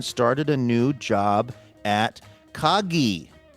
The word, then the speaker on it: Kagi: In October 2025, Cameron started a new job at Kaggi. That's Kagi with a hard G.